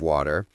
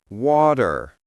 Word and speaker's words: water: Oh, and speaking of water, let's fix a common pronunciation mistake. In American English, we usually say water, not water.